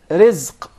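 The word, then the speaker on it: رزق: Rizq. Rizq. Rizq. Rizq. Did you notice here the ra is very soft and light?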